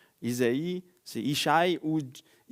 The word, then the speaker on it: Isaïe: Là peut-être dans vos versions, il y a Isaïe ou Jessé. C'est c'est juste une prononciation différente en hébreu. Isaïe c'est Ichaï ouit.